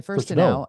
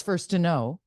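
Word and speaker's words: Furstenau: that is how she would like her name pronounced it's she changed it because we all called her Sonia first to know and then she said no it's first to know yeah and so it's been first to know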